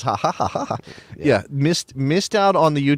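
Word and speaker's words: jaja: That laugh track is spelled J-A-J-A-J-A, just so you know. It's ha ha ha ha.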